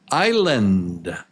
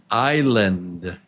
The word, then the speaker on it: island: Island. Island. Yeah. The S is silent. You do not pronounce it. Island.